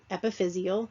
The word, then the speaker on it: epiphyseal: Well, epiphyseal, that's how you pronounce it.